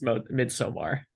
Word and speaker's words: Midsommar: It's Midsommar. I always Is that pronounce how it you like say that.